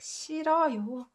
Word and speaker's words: 싫어요: So you can just ignore this when you're pronouncing it. And this is just pronounced like 싫어요.